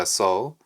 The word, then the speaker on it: sew: 조각들을 모아야 했고 and su them together 수라고 하는게 바느질하다 또는 꿰매다 뜻입니다 아 자 미안합니다 선 방금 발음을 잘못했는데 수가 아니고입니다 so so sew 쏘예 자 우리 이거랑